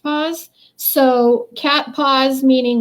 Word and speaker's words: Paz: keys and cat paws her last name is literally pronounced paws so cat paws meaning